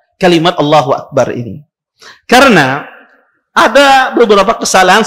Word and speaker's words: Allahu Akbar: Allahu Akbarnya itu salah contoh misalnya dia memanjangkan ya Alif di pertamanya dipanjangkan dia seperti bentuk istighfar dia katakan dia panjangkan a-nya ya dia panjang para